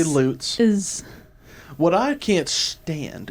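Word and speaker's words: Lutes: the loots is lucifer spell it for me l-u-t-e-s loots just say loots is what i can't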